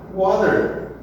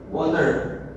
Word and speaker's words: water: Então ele vai engolir esse T e na pronúncia ele vai ficar muito parecido com um D. Water. Water. Water. Can I get some water? I'm thirsty. Can I get some water? Já o pessoal lá da Inglaterra e países próximos de língua inglesa, eles vão falar water. Eles vão pronunciar esse T bem bonitinho.